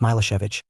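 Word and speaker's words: Milošević: a narrow-minded Serb nationalist mosovich pronounced milosevich had won the election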